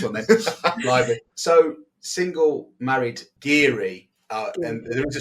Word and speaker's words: guiri: in my head and the only way I could do it was Richard gear Gear because I kept saying it wrong I was giri giry